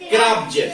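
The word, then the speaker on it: crabs: बी के बाद क्या आ रहा है, एस, तो यहाँ जा से होगा। तो इसको हम क्या पढ़ेंगे, क्रब्ज।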